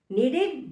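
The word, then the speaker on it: kneaded: Dough tightly नीडेड आटा, नीडेड वह ध्यान रखेंगे कि साइलेंट होता है, और बैटर थोड़ा लिक्विड फॉर्म में होता है।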